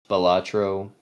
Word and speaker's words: Balatro: I believe I believe it's actually pronounced Balatro. I believe like that is the official, like that's what the creator says is the thing.